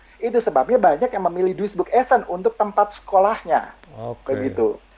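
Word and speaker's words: Duisburg-Essen: Ini Duisburg Essen. Waduh, betul gak itu saya Ya, pronunciation-nya nih?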